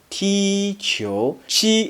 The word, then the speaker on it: qi: Qi is similar to chi in cheese, but you need to pull the corners and mouth straight back to pronounce it.